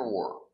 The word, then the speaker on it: were: Where were, where were. Remember the pronunciation? Where is open, where, and were is closed, were.